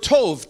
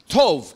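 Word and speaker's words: טוב: Here it literally means, it's the Hebrew word tov, T-O-B, pronounced with a V at the end, T-O-B, tov, and it means approval.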